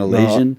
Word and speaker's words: Elision: And that's how I pronounce it? Yeah, Elision. Yeah. All right. I'm sorry to everyone. I've always been saying Elision. No, that's fine. But it's Elision.